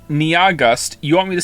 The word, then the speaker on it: Nyahgust: has informed me that their name is only 2 syllables long. And I don't understand how that's possible. Nia is clearly 2 syllables on its own, and then after that you have gust. Niagust. It's pronounced like August.